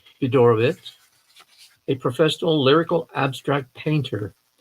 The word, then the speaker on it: Fiedorowicz: I'm sure, but I did study German just a little bit, so I thought that, of course, the W is pronounced as a V, correct?